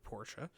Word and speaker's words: Porsche: Porsche, the two-syllable word Porsche.